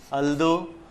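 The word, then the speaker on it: although: ஓ யூ ஜி ஹெச் அல்தோ ஆல்னு உச்சரிக்க சிலர் உச்சரிக்கிறதை பார்த்திருக்கோம் கொஞ்சம் குறில் வச்சிட்டா நல்லா இருக்கும் ஈவன் தோ டெஸ்பைட் இன்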